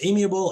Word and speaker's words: amiable: so here we've got amiable should be pronounced amiable if I click scan